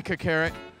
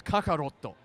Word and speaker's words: Kakarot: Dragon Ball Z Kakarot. I'm pronouncing that incorrectly on purpose. It's Kakaroto, which is Son Goku's real name.